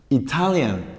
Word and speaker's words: Italian: Italy, hay tres sílabas. Italy, Italy, pero cambia a Italian en la segunda sílaba, ¿sí?